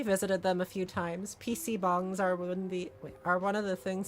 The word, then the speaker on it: PC bang: Is it like PC bong or something? Yeah, PC bong. Okay. But I pronounced it PC bang the first time I ever played this.